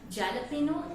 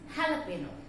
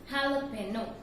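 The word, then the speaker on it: jalapeño: Again, the pronunciation, the same as here, it's not jalapeno, it's jalapeno. I repeat, the correct pronunciation of this word is not jalapeno, it's jalapeno.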